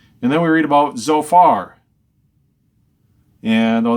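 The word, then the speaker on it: Zophar: then we read about zofar and oh that's spelled the Z in our Bibles it's kind of a TS in Hebrew so far so if you imagine a TS together so so far and it seems to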